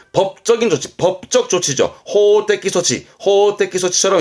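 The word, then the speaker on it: 装置: 이건 장자라, 장치입니다. 발음은 소치.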